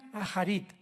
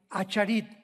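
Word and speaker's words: אחרית: Postreros es acharit, así como suena con CH, se pronuncia acharit, acharit.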